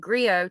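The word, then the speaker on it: griot: me sick cie said Grio TI is silent Grio is a person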